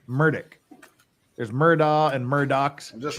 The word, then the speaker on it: Murdaugh: the defendant's name the same way the defendant pronounces murdick there's Murdoch and Murdoch's just real quick yes